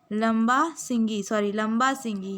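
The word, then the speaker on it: Lambasingi: लंबा सिंगी या it's pronunciation is लंबा सिंगी.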